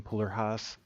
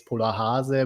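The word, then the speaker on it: Polarhase: But, Yeah, I know it's pretty hard for non-German speakers to pronounce the name. I mean, it's Polar Hase, but I mean Polar Haze, Polar, it's everything fine.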